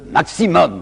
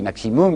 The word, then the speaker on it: maximum: Ces gens demandent le maximum. Vous savez, aujourd'hui on dit maximum, mais ils disaient maximum, alors je prononcerai comme eux.